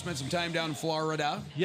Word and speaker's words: Florida: You just spent some time down in Florida. Yep. Florida is how you're supposed to say it, not Florida.